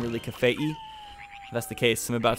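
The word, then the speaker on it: Kafei: name is actually pronounced cafe II the the I at the end is supposed to be kind of like Hawaii I don't know I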